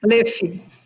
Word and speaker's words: Löw: Bem, a doutora Luiz Caroline Campos Low, se pronuncia Low, seu nome, sobrenome? Leff.